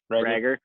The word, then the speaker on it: Reagor: That Jalen, is it Reagor or Rager? How do you pronounce that one? Rager.